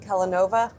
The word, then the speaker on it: Kellanova: Wait, what am I saying? Kellanova? I'm saying it wrong. Sounded right to me. Because I'm saying telenovela. It's fine Kellanova, not Kellanova.